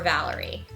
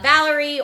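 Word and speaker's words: Valere: the story Zale or Valerie zil's a blade dancer born on the summer solstice walks the path of the Guardian God Solen or uh Valerie or valer however you choose pronounce it a monk born on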